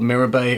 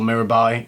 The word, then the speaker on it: Mirabai: about the perfume first the perfume is called mirror bay or mirabai you can pronounce it in different ways and it's also spelt different ways another name for mirabai